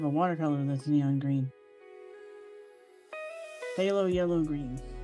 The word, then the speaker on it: phthalo: Phthalo yellow green. Halo yellow. Phthalo yellow green. It's that ph um oh phthalo color. Yeah, but it's phthalo. The p silent.